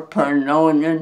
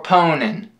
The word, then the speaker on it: pwning: for ponin for ponin for Pon grannies are pronin noobs you said pronin again it's okay you'll get it don't don't get discour are ponin for ponin for ponent you'll get it now I I